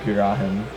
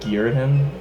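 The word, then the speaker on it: Ghirahim: I always pronounce it Girahim, but I think you're supposed to be like Girahim, I think is what you're supposed to do. Something like that. Girahim or something, I don't know.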